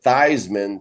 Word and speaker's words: Theismann: to notre dame and his name was was really thiesman but he changed at the thighsman to rhyme with the heisman so he could try to win the heisman if you remember and